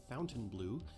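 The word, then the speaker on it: Fontainebleau: really good Miami Beach's Fontan blow Hotel pronounced by the locals as Fountain Blue is a famous local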